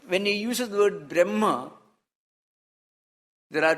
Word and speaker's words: Brahma: Brahma is the word Brahma, which is a long A vowel.